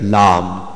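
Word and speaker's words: لام: and L and Fa lamb we describe it like Lam alif and me this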